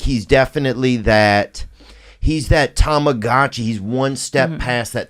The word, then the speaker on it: Tamagotchi: But yes, Bobby is a Tamagotchi. Is that how you say it? I used to say Tamaguchi. Oh, really? Tamaguchi? Tamagotchi.